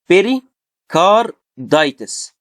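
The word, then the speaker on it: pericarditis: بيري كار دايتس. تمام. طيب ليه اشمعنى كلمه داي هي اللي كابيتال والباقي سمول؟ لان هي بيقول لك ايه، الستريسد سايلابل والبي ان كابيتال ليترز، يعني الحروف اللي هيبقى يعني ايه عليها شده او مشدده.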